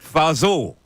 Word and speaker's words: fagioli: Or like fagioli. Like, where do we get fagioli? Because, the vowel at the end is there, and yet you don't pronounce it.